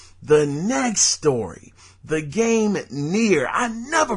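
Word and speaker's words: NieR: next Story the game near I never pronounced this right but it's the game that's spelled n i r um I'mma just call it near because that's what it sounds like but the game near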